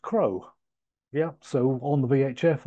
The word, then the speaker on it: CROSS: But Cross is actually pronounced Crow.